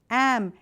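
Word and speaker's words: AmeRícan: Am-a-Rican, with the big R and the accent on the I.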